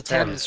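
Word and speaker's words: Thames: he say River temps the river it's the temps right you don't pronounce the AG for some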